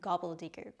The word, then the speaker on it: gobbledegook: let's get started gobble de let's begin with gobble it's pronounced gobble don't worry it's not as hard